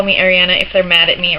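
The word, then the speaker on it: Arianna: It is not pronounced Adriana, despite what everybody seems to think. It's also not Ariel or Mariana or anything else like that. It's just Ariana.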